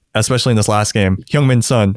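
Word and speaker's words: Heung-min Son: in this last game hyung min sun or hyungmin's son is i learned that's how you pronounce it he's been going off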